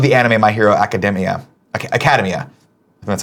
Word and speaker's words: Academia: Academia.